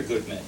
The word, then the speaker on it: Guttman: Guttman, maybe, let me get the pronunciation right, sir. Is it Guttman or Guttman?